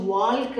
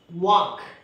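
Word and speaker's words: walk: வாக் எழுதும் போதும் கூட இந்த எல்லை நாம் உச்சரித்து வால்க் அப்படின்னு சொல்லக்கூடாது. டாக் வாக் அப்படி தான் சொல்லணும்.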